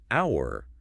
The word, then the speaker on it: hour: With the word hour, the letter H is completely silent.